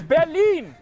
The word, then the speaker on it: Berlin: The biggest and also the capital city is called Berlin. There are 3.520 million people living there. It is not Berlin or Berlin, it is Berlin.